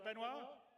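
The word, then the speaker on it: Benoit: waffling on I'd like to bring C's CTO benoir did I say it right benir yeah okay good I'm always B with French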